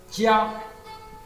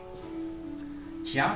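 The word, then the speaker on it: 家: Ce caractère, la prononciation, on dit Tia. Tia, ça veut dire famille, sens propre.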